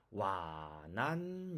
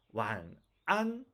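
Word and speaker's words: 晚安: 자, 이 글자는 우리가 와난 이렇게 읽으면 안 된다고 했죠. 한국 분들이 많이 이렇게 읽고 있는데 특히 초급 단계에서 이렇게 읽으면 안 됩니다. 두 번째는 완안, 네, 이게 정확한 발음입니다.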